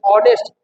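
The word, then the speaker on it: honest: ही इज ऑनेस्ट यानी इसको नेस्ट नहीं पढ़ते ऑनेस्ट यानी इसका उच्चारण कैसे हो रहा है अ से आ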